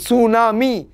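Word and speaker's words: tsunami: এর উচ্চারণ করে না জাপানিজরা টি এর উচ্চারণ করে না যেমন সুনামি টি এর উচ্চারণ কিন্তু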